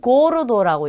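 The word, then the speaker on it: gordo: 그래서 자, 이 단어는 가파스라고 읽고요. 자, 이 단어는 고르도라고 읽겠죠.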